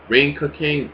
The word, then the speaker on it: Ring Ka King: Now you got the new wrestling promotion called Ruka King, or Ring Ka King. That's how you pronounce it.